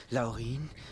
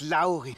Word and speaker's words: Laurin: Zwerge zum tausendsten Mal es heißt nicht Laurin es heißt Laurin mit Betonung auf dem au au genau ein Angriff auf die